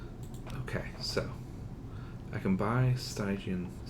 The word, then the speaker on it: Stygian: I keep wanting to say Stygian, and that's legitimately not how you pronounce it. If it were still Greek, it would be Stygian or Latin, and we pronounce it Stygian. It's not Stygian. It's just that there's a particular video game that uses the phrase. They mispronounce it as Stygian, and it's stuck in my head as that way.